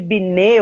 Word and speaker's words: Binet: Quando Alfred Binet, ou Binet, mas eu acho que é Binet, né?